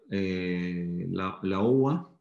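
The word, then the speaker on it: Laowa: Hay unos lentes que es de la marca la UA, como se pronuncia en chino, la UA, que ya tienen capacidad de magnificar o podemos adaptar.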